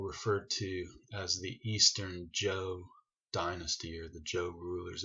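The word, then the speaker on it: Zhou: to as the eastern joke dynasty or the joke rulers it looks like as you but it's pronounced Jo like GI Joe Joe or Joe and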